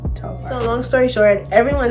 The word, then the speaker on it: Telfar: I always call it Telfie, but it's pronounced Telfar, right? Telfar.